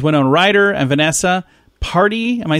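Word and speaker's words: Paradis: on ryder and vanessa party am i saying that right parties i don't think you pronounce the s anyway they have no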